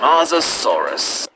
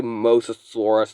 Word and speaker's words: Mosasaurus: Mosasaurus. Mosasaurus? How can you pronounce it like that? Mosasaurus would please just say Mosasaurus so you don't sound like an absolute idiot.